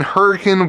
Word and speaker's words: Hurricane: my store here in Hurricane West Virginia it is pronounced hurricane spelled hurricane uh so that's going to